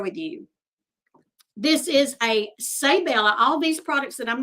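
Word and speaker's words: Seibella: This is a Saybella. All these products that I'm going to share right now are Saybella. It's pronounced say like S-A-Y, but it's spelled S-E-I-B-E-L-L-A.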